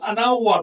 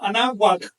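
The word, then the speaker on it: Anáhuac: No pronuncien ana, sino anawat con la w casi consonante, pegando levemente los dientes superiores a la inferior, así como se pronuncia Ana Wok.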